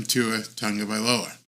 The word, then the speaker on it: Tagovailoa: And right now, as of today, I believe the uncomfortable conversation has to be had about moving on from Tua Tagovailoa.